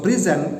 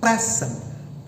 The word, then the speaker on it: present: Okay, so the word present consists of two syllables. The word present also consists of two syllables, but the word present, the syllable that gets stressed is the second syllable. Meanwhile, in the present, the syllable being given stress is the first syllable.